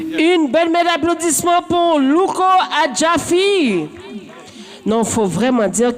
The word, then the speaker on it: Luko Adjaffi: Alors, si jamais vous voulez vous abonner sur les réseaux ou trouver Louko Adjafi, ça se tape comme ça se prononce. Luko espace ADJAFFI.